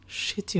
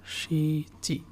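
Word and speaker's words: しち: নানা অথবা সিচি উচ্চারণ করে, সিচি।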